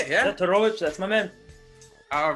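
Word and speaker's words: Todorović: We got Punahale Soriano taking on Dusko Todorovic. That's how you say it? Yeah, Todorovic, that's my man.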